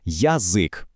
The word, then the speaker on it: язик: Якщо вони стоять на початку слова, після голосної, апострофа чим якого знака, вони позначають два звуки. Наприклад, у слові язик ми чітко чуємо язик, але варто їм опинитися